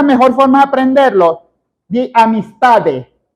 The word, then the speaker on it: amistad: También de articular bien, no es amistad. Eso no termina en T, termina en D. ¿Cómo se pronuncia? Bueno, te imaginas que vas a decir amistad y le callas la E, amistad.